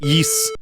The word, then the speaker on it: Ys: the original I'm aware of it it's actually pronounced yes foreign it's just an RPG no the